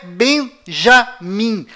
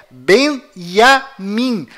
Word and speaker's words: בנימין: Além disto, não é Benjamin. A pronúncia correta é Benjamin. Pois lembre-se, até hoje não existe em hebraico nenhuma letra com som de J.